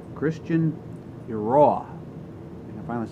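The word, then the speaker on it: Eiroa: This is the brainchild of Christian, I always get this wrong, Christian Iroa.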